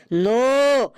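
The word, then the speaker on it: know: স্যার ওটা লেখা আছে কে এন ও ডব্লিউ নো এখানে কে এর উচ্চারণটা মুখে হবে না।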